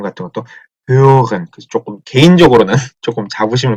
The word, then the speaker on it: hören: 오라고 입을 모은 상태에서 소리만 이를 내니까 으. 다시 한번 이렇게 되겠죠. 그래서 발음을 어떻게 하냐? 으. 그 다음에 문제예요. 그 때문에. hören, 이거든. hören.